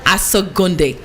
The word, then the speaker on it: Asogonnde: So the name is, you're going to help me pronounce the last name. Asogonnde.